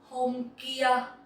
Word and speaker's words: hôm kia: Let's see how we pronounce them in Vietnamese. First, let's talk about the past. Hôm kia.